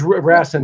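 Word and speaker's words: Rasson: and get how do you say the table, Rassen or Rassan? Or Rassin. He's Rassen.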